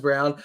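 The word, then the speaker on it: Braun: pronounced Brown like it's spelled wrong but it's pronounced Brown so just like like seeing those players and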